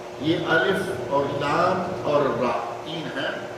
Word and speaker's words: را: الف اور لام اور را تین ہیں، ہمارے یہاں رے کہتے ہیں جبکہ اصل تلفظ اس کا را ہے، جیسا کہ یہاں بالکل